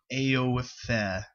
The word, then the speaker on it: Aoife: It is spelled A-O-I-F-E-H, so it's like Aoife.